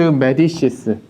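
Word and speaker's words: Médicis: 근데 앙리 2세가 누구랑 결혼하냐면 거기 나오는 까트린 드 메디시스. 네. 이탈리아어로 읽으면 메디치고 프랑스식으로 읽으려면 이제 메디시스라고 읽어야 됩니다.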